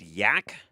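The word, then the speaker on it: Aike: A i k e pronounced yak.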